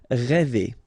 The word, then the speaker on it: rêver: Rêver, okay, accent circonflexe, so this accent on the top of okay, will produce the sound really open one, okay, so rêver.